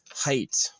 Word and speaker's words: Heidt: like being religious, but they mean like Horace Height. So um, it's very interesting that my last name is Haight. His name is Height.